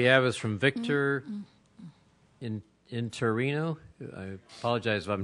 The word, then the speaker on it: Interiano: next card we have is from Victor in interino I apologize if I'm not pronouncing it correctly hi everyone good evening uh my name is Victor inano and I work for the faculty Association um